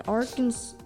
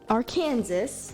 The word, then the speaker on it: Arkansas: um one more what um which is in Arkansas our Kansas Arkansas wow what congratulations your pronunciation honk your horn three times in front